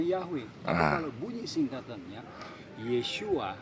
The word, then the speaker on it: Yahweh: Nah, kalau di bunyinya YHWH itu dibacanya Yahweh.